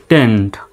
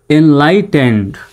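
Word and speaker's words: enlightened: পড়তে হবে টেন্ড কিন্তু বানান করতে স্বাভাবিকভাবে বানান করলে কিন্তু টি ই এন ই ডি টেনেড এরকম হয় তাই না টেনেড হয় তো সঠিক উচ্চারণটা হবে টেন্ড এনলাইটেন্ড প্রয়োজন শব্দগুলো যখন আমি বলব তখন আমার সঙ্গে আপনারা উচ্চারণ করবেন এনলাইটেন্ড সঠিক উচ্চারণটা কি হবে এনলাইটেন্ড এনলাইটেনড সোসাইটি এস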